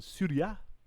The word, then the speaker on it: Syria: as in english uh syria pronounced in latin surya at least what i'm deducing from the video if you think it's